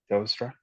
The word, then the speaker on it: Telstra: A non-executive director at Melbourne Support Services, group strategy and performance lead at Telstra. Did I pronounce that correctly? Telstra? Correct.